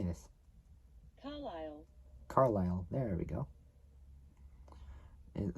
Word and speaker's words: Carlisle: Carlisle. Carlisle. There we go. It looks like it's spelled Carlisle or whatever, but it's spelled Carlisle.